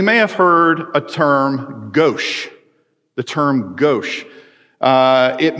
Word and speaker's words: gauche: connotation of bl right something that's gauche and it's spelled g-a-u-c-h-e because it's from the french and french people